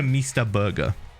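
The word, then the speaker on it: Meester Burger: but yeah anyway anyway so we go to mr burger it's pronounced m it was spelt sorry m-e-e-s-t-e-r burger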